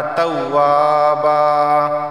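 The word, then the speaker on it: تَوَّابًا: तव्वाबन वक़फ़ की सूरत में तव्वाबा, तव्वाबा की हिज्जे देख लें, ता वाव ज़बर तव, वाव अलिफ ज़बर वा, तव्वा बा अलिफ 2 ज़बर बन, तव्वाबन वक़फ़न तव्वाबा, ठीक है।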